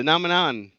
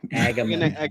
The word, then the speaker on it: Agamemnon: Yeah, the Nomenon. The Agamemnon. Agamemnon.